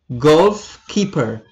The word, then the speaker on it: goalkeeper: keeper uh gold keeper so the stress is on the first syllable golf keeper golf keeper is a